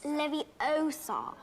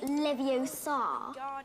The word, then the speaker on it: Leviosa: you're saying it wrong it's leviosa not leviosa you doing if you're so